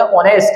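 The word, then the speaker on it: honest: आगे बताएंगे व्हाट, परंतु it's good and ऑनेस्ट citizens, इसको बोलेंगे ऑनेस्ट, एच साइलेंट है, ऑनेस्ट, वहां के ईमानदार जो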